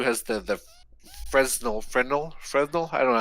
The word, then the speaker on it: Fresnel: So the PSVR 2 has the Fresnel.